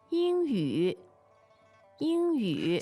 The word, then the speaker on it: 英语: 英语，英语。 So you can tell that the ing sounds a little bit like ing as in English, that syllable, right?